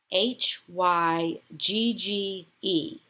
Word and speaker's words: hygge: new feature vocabulary builder the word this week is spelled h y g g e and it's actually pronounced hygge this is defined